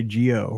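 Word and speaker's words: geaux: all those extra letters g-e-a-u-x is how they spell it down there the other tigers not like Mizzou we just say Geo we're efficient no LSU fans Geo no g-e-a-u-x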